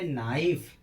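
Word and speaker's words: knife: आया है तो यहां पर भी के का उच्चारण नहीं होगा जैसे नाइफ के एन आई एफ इ नाइफ नाइफ माने चाकू।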